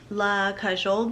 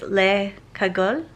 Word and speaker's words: Le Cagole: was watching footage and i totally butchered the name of the valenciaga bag i kept saying la cajole but i think it's lei kagol leika gold i'm so sorry please